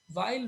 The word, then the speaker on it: weil: In today's lecture we are going to cover up our conjunction while we call it, we the pronunciation is while means because.